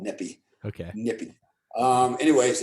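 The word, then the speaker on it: Nyepi: My wife's over here telling me how to spell it. Just know it's called Nippy.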